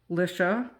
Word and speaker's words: Alicia: So my friend Alicia of Call Me Crafty Alicia, which rhymes with Patricia, Call Me Crafty, does these things every month, the Sheetload of cards.